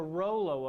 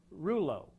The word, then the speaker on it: rouleau: That's the Rollo effect, or Rouleau, depending on what part of the world you're from. The pronunciation varies.